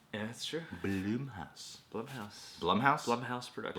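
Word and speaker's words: Blumhouse: ] all the time I see Bloom house Blum House most people do but it how does Jason say it he says Jason Blum he's saying it wrong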